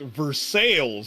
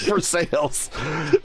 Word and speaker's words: Versailles: you're probably going to say that it's Versailles, Ohio. But it is, in fact, Versailles, Ohio. Yes, Versailles. As the French roll over in their graves. Oh, that's why we hate you Americans, because you can't say the names right.